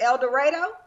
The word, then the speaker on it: El Dorado: again the question is is it El Dorado or El Dorado his actual pronunciation is El Dorado if you are if